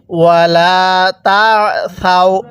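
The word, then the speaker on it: وَلَا تَعْثَوْا: এরপরে ওয়ালা তাসাউ, সাটা নরম করে আইনটা পড়ার সময় গলার মধ্যে হালকা চাপ দিয়ে পড়লে আইনটা সহি শুদ্ধ উচ্চারণ হয়।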